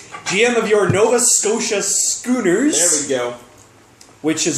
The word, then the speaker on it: Schooners: As usual, I have with me on my left, GM of your Nova Scotia Schoolers.